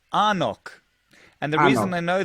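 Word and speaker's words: anCnoc: it's spelled funny right yeah like engnok it's pronounced arnock and the reason i know that is because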